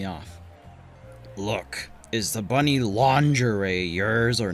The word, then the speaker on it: lingerie: It's like a anime bunny girl Lingiri. Lingiri. It It's pronounced lingerie. What the hell are you talking about? It's spelled lingieri. It's a French word derived from their word for linen. It's pronounced lingerie.